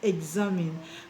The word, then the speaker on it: examine: of a word and after the EX you have a vowel letter. Now the EX will be pronounced eggs, eggs, eggs. Okay, eggs. All right, so that's why the word is pronounced examine.